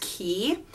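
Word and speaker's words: Quay: the by the brand i want to say quite but it's pronounced key and they're from Australia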